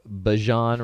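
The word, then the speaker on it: Bijan: by the name of bajan robinson and it rhymes with dijon he is incredible he's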